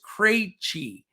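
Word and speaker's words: Krejčí: Vit Krejci, who we talked about, that was one I couldn't pronounce for a long time until one of our listeners said it's Krejci.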